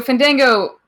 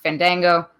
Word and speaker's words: Fandango: He went back into the ring to attack Fandango. It's Fandango, isn't it? Doing it again. They pronounce it both ways. It's really weird. So I guess pronounce it however you want. Say Fandango.